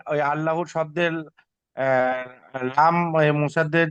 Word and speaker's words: আল্লাহ: আল্লাহ শব্দে লাম মুসাদ্দাদের পূর্বে যদি জাবার অথবা পেশ হয় তাহলে আল্লাহর লামকে পুর করে পড়তে পুর হবে, করে অর্থাৎ পড়তে হয়। অর্থাৎ ল উচ্চারণ হবে। ল, ঠিক আছে। লা হবে না, এটা ল হবে।